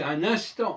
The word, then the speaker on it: un instant: Un instant, le N du 1, on ne prononce pas, le N du IN, on ne prononce pas, et le N de ANT, on ne prononce pas.